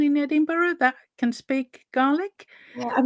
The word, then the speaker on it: Gaelic: learned that it's not pronounced GIC but it's pronounced garlic which obviously most of us think about suddenly